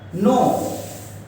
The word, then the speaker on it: know: NaHI, नहीं, नहीं मतलब नो, नो का मतलब एक और होता है KNOW, इसमें K को और W को साइलेंट कर दीजिए तब दिखेगा नो।